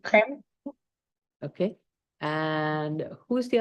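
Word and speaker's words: Riem: How do you pronounce the last name? I have. Crane. R-I-E-M, Yes, exactly. Crane.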